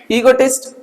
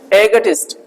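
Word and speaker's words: egotist: आपका चाहो तो आप ऐसे ही बोल सकते हो, ईगोटिस्ट, बस टिस्ट लगाना पीछे, ईगोटिस्ट, ठीक है ना। बट एक और चीज है, इसको एक और तरीके से प्रोनाउंसिएट करते हैं, एगोटिस्ट।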